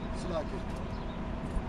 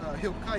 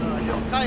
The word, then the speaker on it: Hilkiah: Slakia. I believe it's Hilkiah, if I'm not mistaken. Yeah, it's Hill. I didn't pronounce it. Hilkiah, you know what I'm saying?